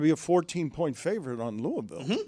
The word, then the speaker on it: Louisville: Louisville, one syllable. Oh, Louisville. Oh, maybe two. One.